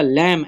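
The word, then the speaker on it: lamb: underline कर देना है तीसरा लैम एल ए एम बी इसमें भी बी साइलेंट है चौथा हमारे पास है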